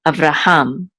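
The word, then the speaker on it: אַבְרָהָם: And this is Avraham. And this is the trope or accent mark on the last syllable, Avraham.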